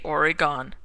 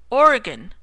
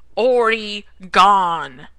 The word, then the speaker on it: Oregon: says he goes and that was Timmy from Oregon oh did I say Oregon I meant oron like he says it's stretched out obnoxious mispronouncing and I think he knows that it